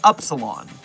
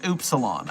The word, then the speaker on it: upsilon: I've always pronounced it upsilon, but it's actually pronounced oopsilon against my will because it's a stupid pronunciation.